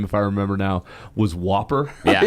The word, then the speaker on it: WOPR: be hurt or not, because the way you pronounce that computer's name, if I remember now, was Whopper.